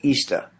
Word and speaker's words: Ishtar: The first thing we must understand is that professing Christians were not the only ones who celebrated a festival called Easter. Ishtar, which is pronounced Easter, was a day that commemorated the resurrection of one of their gods that they called Tammuz.